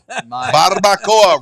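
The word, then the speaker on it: barbacoa: You know Barbboa barbcoa. Roll your RS.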